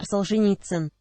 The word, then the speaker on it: Solzhenitsyn: So, the great Russian novelist and polemicist Alexander Solzhenitsyn? How do you say that? Alexander Solzhenitsyn.